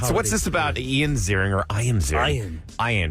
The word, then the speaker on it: Ian Ziering: All right, so what's this about Ian Ziering or Ian Ziering? Ian. Ian. He doesn't pronounce it Ian. It's Ian Ziering.